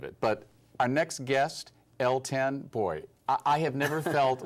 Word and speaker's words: L10: you elton that's all right as in elton john the only one lady lady john those are some big shoes to fill but i i don't mind being attached to them but yours are pronounced l10 l10 so tell me where